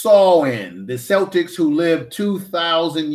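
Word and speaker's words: Samhain: Celtics festival of the San Sam Han are pronounced saw in the Celtics who live 2,000 years ago in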